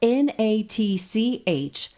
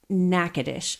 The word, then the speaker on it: Natchitoches: Okay, listen, I have to tell you, this is spelled Natchitoches. Natchitoches.